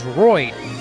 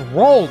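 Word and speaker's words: Rold: the Roy rolled Medallion I thought it was roid nobody pointed this out to me it is rolled you guys are supposed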